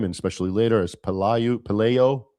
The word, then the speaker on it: Pelayo: And it's better pronounced amongst the the people of his time and especially later as Pelayu Pelayo Pelayo.